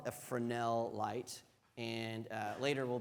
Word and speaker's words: Fresnel: But, um, if you try to rent it, it's spelled Fresno, Fresnel, but it's pronounced Fresnel because it's French.